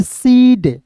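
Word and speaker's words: said: के रूप में सीड एस ए आई डी यानी कि ए आई रहेगा तो उसका उच्चारण ए के रूप में सेड ए आ रहा है तो सेड पढ़ेंगे फिर देखिए दोस्तों यहां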